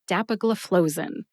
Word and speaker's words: dapagliflozin: The next syllable is flow, as in water flows out of a faucet, and the last syllable is zin, like Zinfandel, which is a popular wine here in the United States. Put all 5 syllables together and you get dapagliflozin. Emphasize DAP and FLOE. FLOE gets the most emphasis. See if you can hear DAP and FLOE emphasized when I say it again.